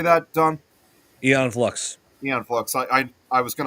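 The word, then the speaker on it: Aeon Flux: Eon Flux.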